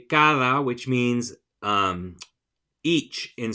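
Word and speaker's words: cada: um each in Spanish it is spelled with a d but it's not a hard D like we have in English it's a softer D that sounds a little bit like th in English so my kids will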